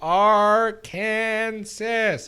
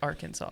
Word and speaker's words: Arkansas: idiot they're like it's arkansas it's arkansas i was like where's the w what i hate you they're like the s is silent and the a has